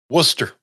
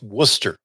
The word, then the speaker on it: Worcester: Worcester. That's Worcester.